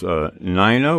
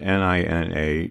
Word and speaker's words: Nina: It is NIGH-na, which is spelled N-I-N-A, .com. Did I get that correct, NIGH-na? You got that correct. I've got one name, NIGH-na, that everyone pronounces Nina, and one name